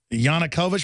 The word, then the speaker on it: Yanukovych: How do you pronounce that? Yanukovych?